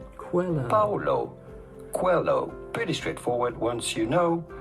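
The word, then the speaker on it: Paulo Coelho: to pronounce that how do you go about pronouncing his name Paulo Quello Paulo Quello pretty straightforward once you know Paulo hello cuello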